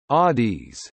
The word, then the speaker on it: ades: They greet each other with aids, pronounced Adis.